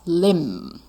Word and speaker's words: limb: 好 grab his powerless limb. L-I-M-B 不 B 不发音。好 limb 是四肢。好，刚好四肢有四个字母，然后 B 不发音。limb 好，小心是 B 哦。B 哦，如果是 P 的话，那叫掰咖 limp.